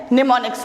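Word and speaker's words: mnemonics: है नेक्स्ट मैं यहां निमोनिक्स की स्पेलिंग पर आप ध्यान रखिएगा एंड साइलेंट है निमोनिक्स पड़ते हैं इसे ठीक है तो यह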